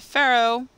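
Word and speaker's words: Pharo: And then I discovered the Pharaoh. That's how I'm gonna pronounce it. But it's the gun that's spelled P-H-A-R-O.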